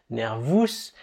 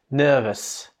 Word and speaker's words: nervous: Alors attention d'ailleurs avec ces mots-là, ils se terminent en OUS, donc on a envie, nous francophones, en les lisant, de les prononcer ous, Sirius, nervous, mais c'est faux. Il faut les prononcer comme s'ils s'écrivaient EUS, serious, nervous, c'est comme ça.